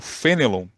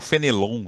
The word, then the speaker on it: Fénelon: Ã, tanto que o título é Fenelon e o o Fenelon, né? se a gente quiser manter a pronúncia francesa e o misticismo cristão,